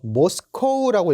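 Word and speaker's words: Moscow: 모스코우라고 읽어주시면 됩니다. 러시아 분들은 요거를 모스크바라고 읽어주시지만 저희는 모스코우라고 읽어주셔야 돼요. 모스코우.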